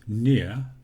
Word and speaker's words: near: Similarly with near, I do not pronounce the last R, except when I say nearer, nearest. And I'm afraid there are some spelling rules.